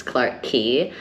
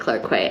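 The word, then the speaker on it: Clarke Quay: Definitely the most embarrassing one was where I was staying, which was Clark Key. Um, I was calling it Clark Quay at least the first week for sure.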